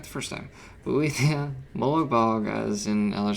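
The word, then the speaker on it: Boethiah: I just couldn't pronounce it right the first time. Boethia, Moloch Bog, as in Elder Scrolls Online, you can tell.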